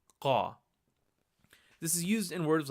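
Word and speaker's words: क़: Qa is produced by taking the vocal cords. Instead of saying Ka, you're going to produce that Ka sound, but further down from your vocal cords.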